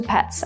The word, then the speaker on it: pet: as you can see my lips are barely moving when I say pet I'm kind of like exhaling air and that's it however if